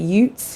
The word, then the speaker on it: Utes: to two distinct bands of i guess you pronounce it utes u-t-e-s you say bands two bands of utes